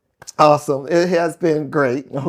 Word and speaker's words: Asim: But it's actually your name is actually awesome. Awesome. Awesome. Yeah. Yeah. Is how it's actually pronounced.